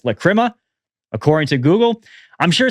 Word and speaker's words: Lachryma: So Ghost released their new song, Lachryma. I looked it up. That is how you pronounce it.